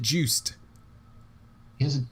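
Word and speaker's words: Juste: juice dude i just said that you said juiced he has a t in his name it's not pronounced oh is he haitian just like kevin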